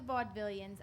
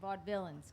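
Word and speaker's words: Vaudevillains: villains yeah no juli it's pronounced vaud villains vaud villains correct sorry V vaud villains vaud villains yeah like Bob Dylan vaud villain that's why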